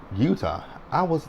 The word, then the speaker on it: Eutaw: Eutaw. When they spell Utah, it's spelled Eutaw, kind of like Choctaw, almost similar, kind of close.